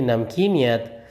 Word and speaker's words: نمکینیت: سمندر کے پانی کی نمکینیت زیادہ ہوتی ہے۔ اس کا تلفظ درست کر لیجئے، نمکینیت۔ سوال نمبر 3 ہے،